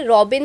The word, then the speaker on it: Rawbin: But actually spelling है आर ए डब्ल्यू बी आई एन तो it's called रबिन व्हाई रबिन because अ जो भी इसमें आप डालते हैं वो एक्चुअली रॉ बन जाता है।